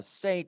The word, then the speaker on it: St.: But ST, like St. Valentine, that's saint.